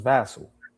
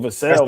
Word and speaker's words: Vassell: So it's Vassal. Yeah, it's Vassal. Vassal and Castle. That's crazy right there. 5-point ball game, y'all. I mean, unless all my life I've been saying my man's last name wrong. Well, I've been saying Vassell.